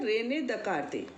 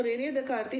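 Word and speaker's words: René Descartes: तो ये क्या है बेटा, फ्रांस के थे ना, फ्रांसीसी, तो उनके यहाँ तो कुछ लेटर्स जो है वो साइलेंट रहते हैं। तो रेने दकार्ते हिंदी में बोलते हैं उनको।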